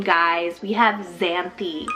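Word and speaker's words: Xanthe: X name, guys, we have Xanthi, spelled X-A-N-T-H-E, Xanthi.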